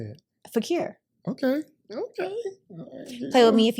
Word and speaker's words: Fequiere: Fequiere.